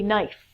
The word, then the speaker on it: knife: Kenny looks like Kenny next one is a knife that can I I remember being a child